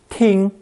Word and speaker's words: 听: This new character is pronounced first tone. Ting, ting.